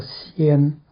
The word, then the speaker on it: 身: 牛仔爱讲仙，愈饲愈大牵。这字仙吼是身躯的身这字吼，这字读作仙。